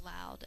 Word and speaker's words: allowed: Spell allowed as in the past tense with me. A-L-L-O-W-E-D. Allowed. And I'm sorry, the ed should not be its own separate syllable.